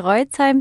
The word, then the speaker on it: Roitzheim: Könnte sein, dass ich ihn falsch ausgesprochen habe. Nein, das passt schon. Reutzheim, die meisten Leute sagen.